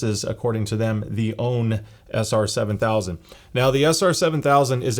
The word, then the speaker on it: Aune: that I've always called aun but after reading some comments and someone asked the company how do you pronounce it in English and they suggested own ow WN so um